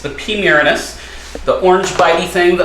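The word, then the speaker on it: Pterinochilus murinus: we go foreign OBT P muranus um pterodokylus miranus something like that it actually the p is silent so it's kind of funny that it's the P miriness but it's the P muranus the orange bitey thing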